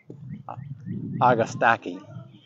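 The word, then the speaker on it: Agastache: and this is uh most people get the pronunciation wrong it's a agastaki or agastaki and this was sunrise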